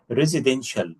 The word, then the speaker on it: Residential: Residential. Sha. TIA. تنطق ش.